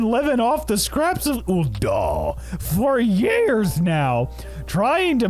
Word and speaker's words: Ul'dah: Why was Ul'dah and solely Ul'dah in a different voice? Because that's how you pronounce it. That is a proper pronunciation of Ul'dah.